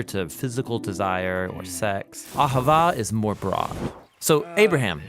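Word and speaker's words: אהבה: It's pronounced Ahavah.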